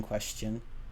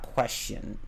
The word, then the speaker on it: question: Yeah, I pronounce the T in question. It's not question.